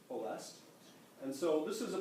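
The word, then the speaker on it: Ploiești: way up there the LZ 86 also bombed poest my Romanian neighbor says it's not pronounced pesty it's pronounced poest and so this was a place that was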